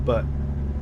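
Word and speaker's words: Butte: How how close it how close are you to the butt? Is that even how you pronounce it? Is this really I think it's boot. It's boot Montana.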